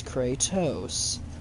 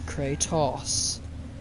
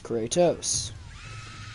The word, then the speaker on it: Kratos: in the games as Kratos, not Kratos. So shut up with your Kratos. It's Kratos. The O says its name.